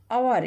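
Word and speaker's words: hour: द सन ही इज अवर इसको क्या पढ़ेंगे एओ यू आर अवर H silent है प्रोनाउंस साउंड क्या आ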